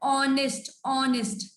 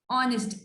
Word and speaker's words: honest: Here the word honest, honest. H is silent.